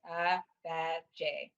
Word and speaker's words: Agbaje: Yeah, it's a melodious word, and so if you just listen carefully, you can get it, but it's Agbaje.